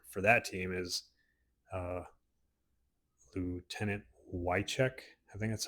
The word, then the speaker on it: Wieczorek: And I believe her name is pronounced Wycheck, spelled like WieczoREK.